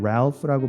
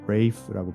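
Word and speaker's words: Ralph: 그래서 이 문장은 레이프가 참고로 이 이름은 랄프라고 발음하기도 하고 레이프라고 발음하기도 하는데요. 레이프라는 발음은 주로 영국에서 씁니다.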